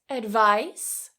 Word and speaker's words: advice: Now the pronunciation difference here is the ending. Advice S. This is voiceless. Advice advice.